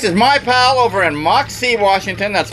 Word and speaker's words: Moxee: over in Moxee, Washington. That's Moxee, right. one word, sounds like two. It's not Moxee, it's Moxee.